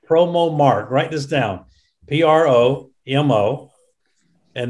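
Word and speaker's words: PromoMarque: Jennifer Land, my wife, why don't you say a few words about a business called PromoMark? Write this down, P-R-O-M-O. And the next word is Mark, but it's spelled different, M-A-R-Q-U-E.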